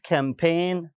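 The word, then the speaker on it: campaign: Advertisement, कैंपेन, जी नहीं पढ़ा, ठीक है, एडवर्टीजमेंट और टाइज नहीं कर रहे, एडवर्टीज कह रहे हैं।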